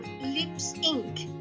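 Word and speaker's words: Lipps Inc.: Como já estava em uso, optou por Lips Inc., que se pronuncia igual.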